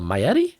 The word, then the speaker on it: Maietti: the safety position michael uh maietti i believe is how you say it uh he's just like